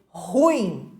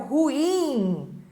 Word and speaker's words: ruim: também temos o ruim ruim palavra oxítona que é erradamente pronunciada como paroxítona e as pessoas dizem ruim é sendo que a pronúncia correta é o ruim então tem uma tabelinha